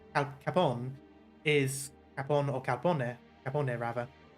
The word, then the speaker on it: Capone: Because I know Italian doesn't usually not pronounce words at the end, not pronounce letters at the end. That's more French, but I don't know, something about it. I think English sort of messes it up a bit, so we're used to saying things like Al Capone. But, so it is an air, so it would be Capone.